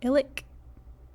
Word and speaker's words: ilik: so the missing word was illick with that clicky k at the at the end ilik then we had cut